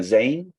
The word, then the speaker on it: Zein: Zein? Yeah, exactly. Zein. You said the exact name. Not with the Spanish Zein, huh? No, not with the Spanish. It's in Catalonia, the Z is pronunciated.